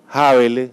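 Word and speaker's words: Häberle: un gran constitucionalista alemán que se llama peter habeler así se pronuncia en alemán se escribe en español a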